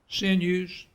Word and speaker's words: sinews: sinews take no rest did i pronounce the news right say again sin use okay i should have looked it up but i missed that sin used that makes sense so feeling his strength